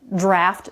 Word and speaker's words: draft: And then there's another word that sounds just like draft, but it's spelled differently, D-R-A-F-T, which means something that's not in its final form.